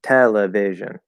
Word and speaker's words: television: the same all right it's not television Television right that's it doesn't work in English we don't like that um what's gonna happen